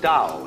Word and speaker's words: Dao: This principle of organic growth they call dao that's pronounced dao. If it had an apostrophe after it, it would be pronounced tao.